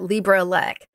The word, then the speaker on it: LibreELEC: so I know I I never quite know I pronounce it Libra ELC so yes the Libra